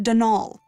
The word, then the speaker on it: Donal: not Donald mind you there's no D at the end so it's pronounced danal that's the way you're